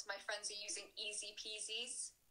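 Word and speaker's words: IZIPIZI: I think lots of my friends are using Easy Peasies, spelled like I-Z-Z-I-P-I-Z-Z-I.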